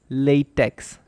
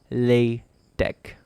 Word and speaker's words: LaTeX: the pronunciation of latex because of the letter X in the word latex you might be tempted to say it latex and I might have